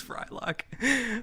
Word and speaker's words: Frylock: His but- name rhymes with Mike Hawk. He doesn't even try to say Mike Hawk, though. He's just like, Mike Cock, Mike Cock. Yeah. I'm like, oh, okay, Jesus. It's Frylock.